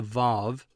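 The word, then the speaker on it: וָו: letter this is the VAV sometimes pronounced W but that's wrong it's V the V sound this little letter has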